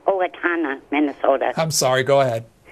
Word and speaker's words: Owatonna: He's their executive director from Otana, Minnesota. Apologies. You're first up. Chris, Independent Line. Go ahead. Yes, it's pronounced Owatonna, Minnesota.